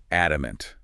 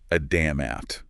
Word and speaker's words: adamant: pronunciation here is key adamant mhm not a damn app yeah and that's especially important I think for speakers who might be used to pronouncing that D sound more forcefully right okay let's move